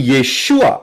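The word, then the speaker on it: Yeshua: Bukan Yesus Kristus atau Jesus Christ itu salah karena enggak ada angkag materanya ada angkag Mater buat mereka ya lain sekali Tetapi yesua itu adalah yang benar yodsin ww Ayin dari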